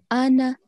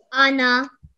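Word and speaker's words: أَنَا: rule okay which means we are not going to prolong it for two seconds okay we are going to pronounce it as anna one second each try anna very good allah very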